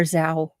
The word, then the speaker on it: Zhao: He and his family has been terrorized recently by constant banging on his door," Zhu told the station. Or Zhao. Look, the MLS law pronunciation guide says Zhao told the station he